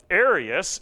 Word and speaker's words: Arius: the Aryans that's a that's completely just a coincidence of the uh of the sounding it's not even spelled the same uh Arius a-r-i-u-s is the man's name he lived from 256